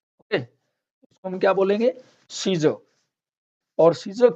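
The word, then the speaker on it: Caesar: देखिए ई और ए दोनों इकट्ठे आ गए, यहाँ ई का साउंड आएगा, ए का नहीं आएगा। जैसे सीज़र, ये रोमन सम्राट को कहा जाता है।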